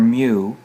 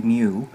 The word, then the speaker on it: mu: pronounced it's greek letter mu it's pronounced like what a kitty would say could he say mu but it's a greek